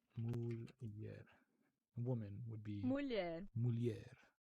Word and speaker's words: mulher: Yeah, like the when you have N and H next to each other, or I guess anything with like the syllable and then like H, it becomes like a Y. So conhece or mulher.